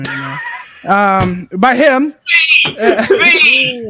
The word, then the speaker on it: Tzvi: Svi! It's not hard. S-V is spelled T-Z-V-I. That's hard, right? Imagine it's spelled S-V-E-E. Svi.